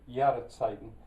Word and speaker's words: Jahreszeiten: I don't think there's Jahreszeiten. I think I pronounced that with a W.